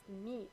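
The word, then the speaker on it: mis: all right Metra its past participle is me pronounced me m i s all right PIR you don't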